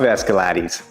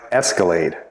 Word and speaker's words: Escalade: cool car I love escaladies what did you just call it Escalade dude it's pronounced Escalade no I'm pretty sure it's pronounced escalate I think it's Scottish